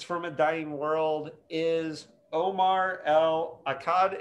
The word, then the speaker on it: Omar El Akkad: a dying world is omar l akkad is that how you pronounce it i'm terrible with pronunciation but um no that was surprisingly well done okay um i appreciate